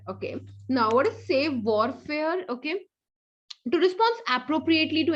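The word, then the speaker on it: savoir-faire: Okay, so the pronunciation is like save warfare. Okay, so save warfare.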